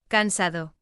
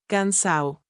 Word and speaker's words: cansado: but in Caribbean Spanish, the D is often dropped completely, so Cansado, might become. Cansao.